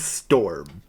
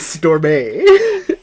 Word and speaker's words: Stormé: It's spelled like Storm, but with an E on the end. I know that the author meant this as Storm. In my head, though, I could not stop pronouncing it like Beyonce. Yeah. In my head, it was Stormé.